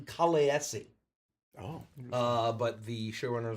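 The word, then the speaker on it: Khaleesi: Actually, in according to the pronunciation of the language uh that uh the guy from the show, it should be technically Kalesi.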